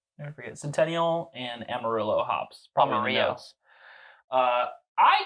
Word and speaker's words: Amarillo: But I don't know if you know this, but farmers farm, and it's pronounced Amarillo.